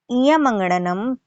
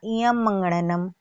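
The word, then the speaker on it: ञमङणनम्: हैं इयंग, इयंगड़नम या इयम मंगड़नम या इयम मंगड़नम। तो इयम मंगड़नम ये सब उच्चारण गलत है, मंगड़नम नहीं होता है, इयमंगड़नम होता है, इयमंगड़नम। फिर से सुनिएगा, सही उच्चारण है इयमंगड़नम।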